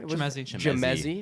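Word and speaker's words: Chimezie: Chemezi.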